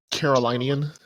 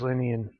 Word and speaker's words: Carolinian: Carolinian. I thought it was Linian.